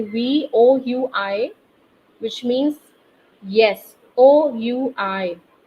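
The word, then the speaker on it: oui: You can also say we, O-U-I, which means yes, O-U-I, we. So this is one more word that I'm teaching you, O-U-I, if you write. It is pronounced as we and it means yes.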